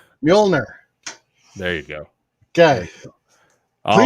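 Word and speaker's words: Mjölnir: got one more chance you do this right mjolnir there you go okay all right please dare me to pronounce that again trump came in clutch for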